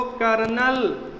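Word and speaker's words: colonel: कर्नल का pronunciation चाहे जैसे करे, उसमें रा निकलेगा, और रा निकलेगा तो आपको आर लगाना ही पड़ेगा इंग्लिश मीनिंग में, लेकिन वो नहीं लगेगा। स्पेलिंग क्या होती है? कोलोनेल, ये है कर्नल।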